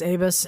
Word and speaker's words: ABUS: So we started to we Americanized a little bit and we say Abyis in the States.